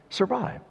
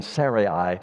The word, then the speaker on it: Sarai: It's Sarai, which sounds a lot better than Sarai or something like that.